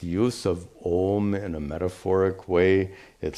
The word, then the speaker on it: Om: When you're chanting Om, Om, by the way, I hope none of you chant Aum. Please don't. Please don't. This deconstruction of Om into Ma is a grammatical deconstruction. It's absolutely not meant for pronunciation. A lot of people have misunderstood that today. Anyway, Om is pronounced Om.